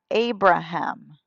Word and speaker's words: Abraham: Y cuando Dios le cambia el nombre, se pronuncia Abraham. Tiene una H ahí y la H sí se pronuncia.